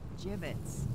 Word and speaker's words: gibbets: Gibbets? What? It's pronounced gibbets.